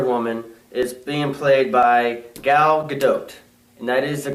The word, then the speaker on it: Gal Gadot: So, Diane Prince, Wonder Woman, is being played by Gal Gadot. And that is the correct pronunciation because I looked it up myself.